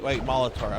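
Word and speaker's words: Maulotaur: Oh, wait, Molitor. Okay. No, yeah, okay, I misread it. No, it's spelled maul as in like to, maul somebody, and then like a minotaur, Molitor, because it's a bull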